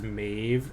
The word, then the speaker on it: Maeve: says actually actually actually technically speaking it should be mauve um because of how it's spelled but that's hilarious but i want it to be pronounced maeve so okay let's just do